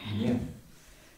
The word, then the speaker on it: гнев: Гнев.